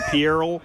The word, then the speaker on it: Pierrel: to let everyone know you've been mispronouncing my last name. It's actually Pierrel.